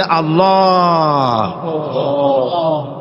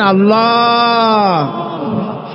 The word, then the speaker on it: আল্লাহ: আল্লাহ পাকের নাম হচ্ছে আল্লাহ মুখটা একটু গোল হয়ে যাবে বলেন আল্লাহ আল্লাহ আল্লাহ পৃথিবীতে বিভিন্ন জাতি